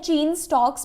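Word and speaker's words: Cheyne-Stokes: इसको आपने अपने माइंड में आप स्पेलिंग याद रखने के लिए काइने या कुछ भी बोल सकते हैं, वैसे इसको प्रोनाउंस करते हैं चेन स्टॉक्स ब्रीदिंग।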